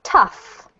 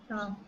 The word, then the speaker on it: tough: This one here is tough. Tough. Tough. Yeah. So it's as if this is an F sound, okay?